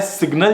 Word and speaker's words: Sgnl: देखा जिसका नाम है सिग्नल जिसको हम कहते हैं एसजी एन एल स्पेलिंग थोड़ी सी अजीब सी है ये गैजेट अभी है